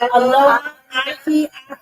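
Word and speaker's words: aloha ahiahi: And as we say, to say good evening, we would say aloha ahi ahi.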